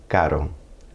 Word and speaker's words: caro: Now when R appears anywhere else in the word, it tends to be that soft R, which is pronounced more like a tap on the roof of your mouth. Caro, caro.